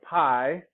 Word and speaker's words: pi: if you've heard of pi which is actually supposed to be pronounced p but whatever pi that's a greek letter